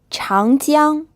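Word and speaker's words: 长江: this means to see child young this pronounced with a second tone then a first tone it means the Yangtze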